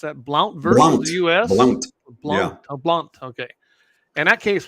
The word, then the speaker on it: Blount: touch on that Blount is that how you pronounce that Blount versus US BL blun blun okay and that case was dismissed we're